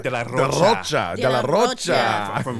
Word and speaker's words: de la Rocha: Man, Zach de la Rocha. I have to say it like Spanish. Zach de la Rocha.